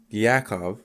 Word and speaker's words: Yakov: and like I say it wrong. Yakov.